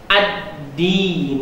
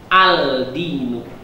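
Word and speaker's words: الدين: dibaca jelas kita akan contoh misalnya alif lam bertemu dengan anda maka menjadi ad-din Uh tidak boleh kita bacanya Aldi ya lalu contoh selanjutnya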